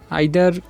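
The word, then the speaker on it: either: এরপরে আরেকটু দেখি আমরা এখানে, এটা কিন্তু আমরা দুইটা উচ্চারণ, আইদার তো এটা ব্রিটিশ উচ্চারণ ইদার কিন্তু আমেরিকারা বলে ইদার, তো ইদার বলতে পারি, আইদারও বলতে পারি।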